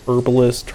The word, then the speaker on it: herbalist: an herbalist will help herbalist herbalist i tend to say herbalist but but that's just me and how i kind of learned how to say it i know that there is an h there but i mean it's